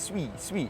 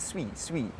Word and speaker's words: Sui: Mist and all that, they call it swee. So it's like, okay, well, like, you know, we can be technically correct in the pronunciation, and then, but then if the community is going to continue to like correct us, and in the videos, oh, these guys don't know how to pronounce soo-ee, whatever, man.